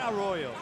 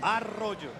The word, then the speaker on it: Arroyo: How do you say that? Arroyo? Say it again. Arroyo. Arroyo. Sí. Okay, I like that. Not Arroyo. No. Arroyo.